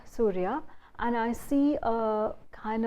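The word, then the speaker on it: Suria: channel which is called Surya, which is spelled as S-U-R-I-A, and it's spelled Surya, and I see a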